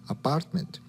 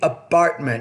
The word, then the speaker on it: apartment: Or moving his furniture from his apartment. And notice the apartment. No, it's apartment. So the P, you're not pronouncing with enough air.